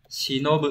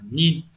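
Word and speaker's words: 忍: Chữ nhẫn sẽ đọc là gì nhỉ? Shinobu âm cơn. Shinobu nhá. Đấy, âm ghép đọc là nin.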